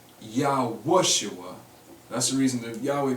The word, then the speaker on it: יהושוע: these first three letters I want to point out one pronunciation first that this name cannot be but you probably seen it proposed and that is y a s h UA yosua now you'll see some